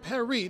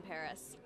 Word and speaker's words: Paris: do you pronounce it is it emily in paris or emily and perry now please just set